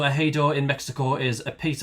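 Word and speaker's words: ejido: Uh, which is a I only I listened to the pronunciation because I would have pronounced it ejoro or something. So, Ahido in Mexico is a piece of land farmed communally under a system supported by the state.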